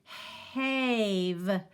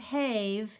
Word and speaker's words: have: making a different sound this looks like it should be hey've --have but it's not --have is it this is the word have have I have done it